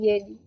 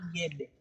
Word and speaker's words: Gedi: So in the year 1884, that's when Gedi was discovered by a person known as Sir John Kirk, then forgotten for 50 years.